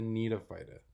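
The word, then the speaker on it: Gnetophyta: phyta the cytophyta and the need of phyta the g is silent now the main family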